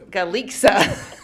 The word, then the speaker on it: Galixa: Galixa rhymes with pizza. Galisa.